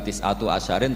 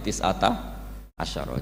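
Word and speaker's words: تِسْعَةَ عَشَرَ: tiata Asaro utawi Solong tetap bacanya bukan tisatu asarin tapi tisata Asaro jadi kita tahu secara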